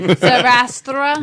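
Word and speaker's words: Zarathustra: It's not Zathura. It's like Zathra. Zarastra. Yeah, that's it.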